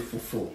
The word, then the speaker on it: fufu: We call it fufu. Okay. Can you pronounce it, please?